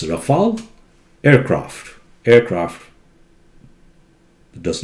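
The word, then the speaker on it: Rafale: hear a lot about you know fancy people pronouncing raphael aircrafts both are wrong it's rafal aircraft aircraft does not have plural form of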